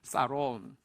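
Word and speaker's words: שָׁלוֹם: 자, 평안이라는 단어가 영어로는 샬롬이라는 발음인데요, 원어는요 조금 더 우리 좀 유식하게 한번 따라하겠습니다. 사롬.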